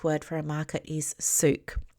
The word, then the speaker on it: souk: I later find out that the name of the market is or the Arabic word for a market is souk. It's pronounced s o uk.